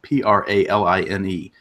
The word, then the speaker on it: praline: a li NE and those two words for those that don't know how to say them properly is pecan praline not pecan pecan any of that other garbage or praline pecan praline there you go mooch here's here's what